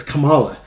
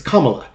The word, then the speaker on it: Kamala: kept telling her correcting her on on the pronunciation of the name it's Kamala you're doing you're it's Kamala you're doing this on purpose and and then